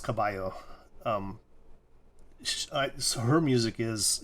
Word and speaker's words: Cabello: if you don't speak if you don't understand spanish you might say camellia cabello um but it'd be pronounced kabayo um so her music